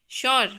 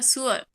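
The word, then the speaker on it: sure: पर आ रही है एस यू आर ई अपन इसको क्या बोलते हैं शर बट यह होता क्या है सुअर एक्चुअल में इंटरनेशनल टर्म में इसको देखा जाए तो इसका प्रोनंसिएशन होता है सुअर ठीक है जैसे टी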